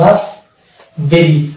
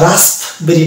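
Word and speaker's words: raspberry: তাহলে এটা হয়ে যাবে রাস বেরি, রাস বেরি। আর রাস্প বেরি না, মানে পকে টানতে হবে না, প বাদ হয়ে যাবে, তাহলে এটা হয়ে যাবে রাস বেরি, রাস বেরি।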